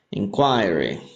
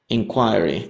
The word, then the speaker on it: inquiry: Ya, entonces ahí tienen las dos pronunciaciones. Inquiry. El americano, inquiry, inquiry en el británico, ¿ya?